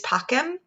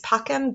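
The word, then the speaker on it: pacem: and obies and then because of sun latin using ecclesiastical pronunciation they actually say pachem if you sing it dona nobis pachem but if we're sticking with our classical pronunciation it is pockham donut nobis pacum give us peace give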